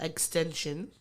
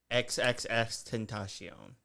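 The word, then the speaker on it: XXXTentacion: convicted of murdering uh extension XXX tentasion is that I'm sorry did I say it wrong yes you did oh you said extension I always thought that's how you said it no no no no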